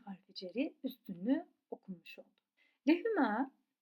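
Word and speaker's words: لَهُ: Li harfi ceri mütekellim y'si hariç diğer zamirlerle birleşirken li şeklinde değil le olarak üstün harekeyle okunuyor. Şimdi bunların nasıl olduğuna bakalım. Lehü onun demek.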